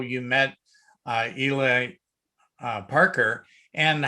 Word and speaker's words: Ely: It's not Eli. He corrected me on that. He spells it E-L-Y, and it's pronounced Ely. He said the Eli is spelled E-L-I.